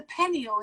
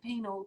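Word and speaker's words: pineal: penile gland well it's it's the penile isn't it isn't that how you pronounce it but i've always said penal because i i'm dumb and i can't say it but you're asking the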